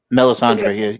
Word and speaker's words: Melisandre: Not Melisandre. Melisandre. Yeah, you said it right.